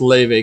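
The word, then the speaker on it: Laufey: L A U F E Y I think. But it's pronounced Ley cuz it's norlandic.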